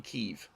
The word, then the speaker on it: Kyiv: It's like everyone's calling it Kiev for so long. It's actually Kyiv, not Kiev.